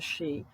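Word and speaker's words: sìth: term for the the she spelled different from the Irish but it's pronounced the same for the she whereas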